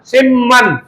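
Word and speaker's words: 십만: পরিবর্তন আসবে কোন শেষ ব্যাকরণগতভাবে বিয়োগের পরে নিয়ম থাকলে বিয়োগ বাচ্চিমটা ম উচ্চারণ হয় বা বিয়োগের পরে যদি নিয়ম থাকে তাহলে বিয়োগ বাচ্চিমটা ম উচ্চারণ হয় এইজন্য আমরা লক্ষ্যকে বলব সিম্মান সিম কি বলব সিম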